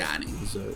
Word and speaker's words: Nanjiani: It's Kumail Nanjiani. I apologize. Nanjiani. There's a little bit of emphasis on the I.